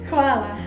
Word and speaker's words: hvala: There's no way I can actually pronounce it the way they actually do it. Can you say hvala? Hvala.